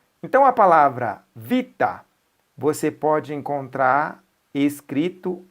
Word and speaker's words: vita: Então, a palavra vita, você pode encontrar escrito e lido assim, ó, uita. Onde tem V, se pronuncia U, tanto na pronúncia quanto na escrita.